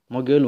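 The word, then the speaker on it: 목요일: अघि मैले भने जस्तै यो पनि यसलाई यो गलाई यहाँ माथि लगेर उच्चारण गरिन्छ, तर गको यो फेरिँदैन, मग यो इल हुन्छ।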